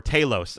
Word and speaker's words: Talos: a negative light and Talos just rips us apart, or Talos, as I've been remembering to say it properly, and this episode actually was very helpful for that.